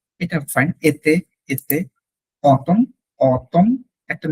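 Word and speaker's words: automne: এতে, এতে, অতম, অতম, একটা ন কিন্তু থাকে লাস্টে, অতম, নেজাল, অতম, অতম, এক্স্যাক্টলি।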